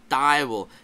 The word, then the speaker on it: Teufel: Now, there are some areas and regions that instead of having a W there in the word for devil, they'll have an F, and you'll hear it pronounced Teufel. Teufel or Teufel. It depends where you are regionally.